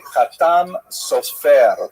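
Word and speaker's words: חתם סופר: Obviously, some of the consonants are slightly different and the emphasis tends to be on the last syllable, but the Ashkanazi pronunciation tends to be on the first syllable.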